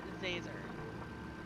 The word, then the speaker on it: Zazer: doing it on purpose it's professor zazer like laser disease how hard is